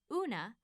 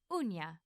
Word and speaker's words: uña: In Spanish spelling, this mark above the N indicates that rather than una, the word should be pronounced uña.